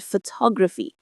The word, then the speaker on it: photography: Step two, say it out loud naturally and just listen for where the emphasis is. Photography. You can hear it, can't you? The stress falls right on that second syllable, ta.